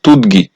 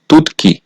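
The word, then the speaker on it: 듣기: বাচ্চিমের পরে আছে গিয়ুক এই শব্দটার উচ্চারণ হওয়ার কথা ছিল তুদগি কিন্তু বাচ্চিমের রুলস হচ্ছে ত বাচ্চিমের পরে যদি গিয়ুক থাকে তাহলে সেই গিয়োগটা বিয়োগ সমান সাংগ হবে এজন্য এই শব্দটার সঠিক উচ্চারণ হবে তুৎকি এরপরে হচ্ছে মেপ্তা এই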